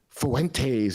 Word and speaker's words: Fuentes: minute as well um you say more more more better Fuentes you say it like uh like like Daisy Fuentes from the 90s and we're watching MTV